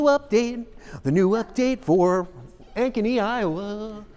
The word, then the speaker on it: Ankeny: we were talking about instead of here's the Ancheny update for the properties now in Ankeny I'm not impressed $300,000 what did you just say you're saying it correctly I know thank